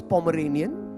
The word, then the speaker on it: Pomeranian: If you can't pronounce Pomeranian, don't buy one. All हमारे पास Pomerian है जी, Pomerian, yes. All Pomerians, all given Punjabi names.